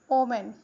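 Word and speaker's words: women: Next word है वुमेन। तो वुमेन को हम वूमन पढ़ते हैं।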